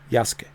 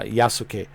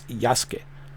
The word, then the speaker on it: Yasuke: Yaske. Uh that's how the Japanese pronounce uh Yasuk. I know it's it sounds on English like Yasuk, but it's Yasuke.